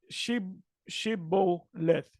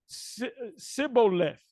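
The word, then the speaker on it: שבולת: Then said they unto him, "Say now," and I'm gonna read in the Hebrew, Shibboleth, and he said, which was an Ephraimite, Sibboleth, for he could not frame to pronounce it right.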